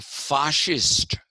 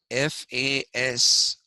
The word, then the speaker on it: fascist: At the same time, you had the Fascist Party in Italy. Okay, it is written F-A-S-C-I-S-T, but it is not pronounced fascist. Okay, it is pronounced fascist. Why? Because the root of the word is fasce, F-A-C-H-E.